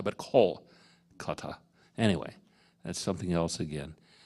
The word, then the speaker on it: Kolkata: Not Calcutta, but Kolkata. Anyway, that's something else again. We often mispronounce other countries.